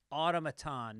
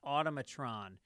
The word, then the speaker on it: automaton: The word is automaton, not automatron. Her name is pronounced Megan, not Megan.